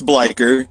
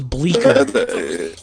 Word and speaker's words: Bleikr: am i pronouncing it right how do you pronounce it it's bleichert I thought it was Bleecker yeah it's no it's like it's it's Norse